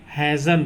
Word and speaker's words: hasten: एन आए, है ना, टी एन में टी साइलेंट रहता है। अगर किसी वर्ड में टी एन आता है ना, तो उसमें क्या रहता है, टी साइलेंट रहता है। देखो जैसे इसमें HASTEN है, तो हम क्या बोलेंगे, इसको हैज़न बोलेंगे, टी को छोड़ देंगे,